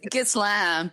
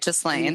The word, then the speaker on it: Ghislaine: It's Ghislaine, but it sounds better to say Ghislaine.